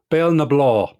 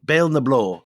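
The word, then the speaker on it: Béal na Bláth: And he passes through some towns and reaches an isolated crossroads at, you have to pronounce is it Bale and Blath? Bale na Blá. Bale na Blá.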